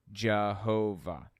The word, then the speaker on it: Jehovah: And passing through Germanic regions, Y's are pronounced like J's, W's pronounced like V's. You end up with the name Jehovah.